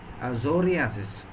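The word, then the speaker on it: psoriasis: K is not pronounced in tsunami or in zoriasis uh the initial letters t is not pronounced that means there are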